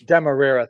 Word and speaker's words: Demerara: Randy probably could pronounce it better than I can. Demerara, thank you.